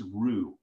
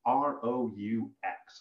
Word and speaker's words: roux: today, and that is roux, R-O-U-X, okay? It's kind of a weird word, and it isn't pronounced the way it's spelled necessarily, right?